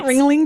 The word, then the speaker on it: Ringling: The The Ringley brothers. and sisters. Did you say it correctly? Saturnites. Ringling Brothers.